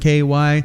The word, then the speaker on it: Hinky: Hinky. Rhymes with kinky.